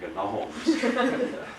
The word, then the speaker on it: gnomes: As far as I know, he was the only one that ever pronounced the G in gnomes. We call them the Gnomes of Zurich.